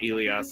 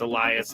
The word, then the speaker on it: Elias: It's not Elias. It's Elias.